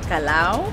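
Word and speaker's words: Callao: we're at the plaza the kalau that's how they pronounce it and we've got a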